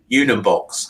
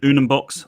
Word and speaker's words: Unumbox: So the name Unumbox, how did that come about, Simon? So I wanted I'd love a one-syllable word.